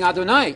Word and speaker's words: Adonai: Adonai, Adonai, Adonai. You know Adonai. It rhymes with El Shaddai, El Shad.